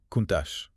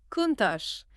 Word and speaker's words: Countach: Mais attendez, on le prononce bien Kunash, n'est-ce pas ? Exactement, Kuntache. Il faut bien rouler l'erreur à l'italie.